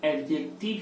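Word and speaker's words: adjective: क्या बोलना है कि एडजेक्टिव ही होगा. क्या होगा बाबू? एडजेक्टिव ही होगा. हाँ देखिए, एडजेक्टिव लिखाता है बट इसका प्रोनाउंसिएशन क्या होता है? डी साइलेंट होता है.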